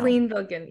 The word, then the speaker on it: Selin Bilgin: Selin Bilgin. Yep. Celine. Yep. You got it. See, Yep. I knew it. I always want to go like French on it.